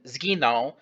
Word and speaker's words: zginął: To make the consonant cluster a bit easier to pronounce, I would begin to pronounce the letter Z in zginął slightly early, approximately halfway through the 16th note preceding the word.